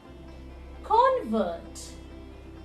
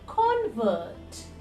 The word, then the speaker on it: convert: repeat after me context in the verb form it will become contest contest convert convert convert convert decrease decrease decrease decrease so this way